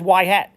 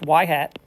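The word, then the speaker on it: y-hat: Um and it is and then that's actually pronounced as Yhat. The Y with the little hat on there, it's pronounced Yhat.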